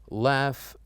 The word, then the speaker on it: laugh: Enough, laugh, and tough. This is just to help us know that sometimes words in GH pronounce as F sound.